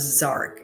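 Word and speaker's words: Jark: One of the the council members, his name is Zark. It's spelled J A R K, pronounced like Z A R K.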